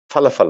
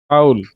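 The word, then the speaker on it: ful: ফাউল। ফাউল। ফাউল। আমি ফাউলই বলেছিলাম কিন্তু এটাকে বলা হয় ওরা ফোল, ফোল বলে।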